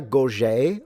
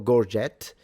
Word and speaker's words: gorget: So he's wearing a gorget or gorget, if you want to pronounce it that way.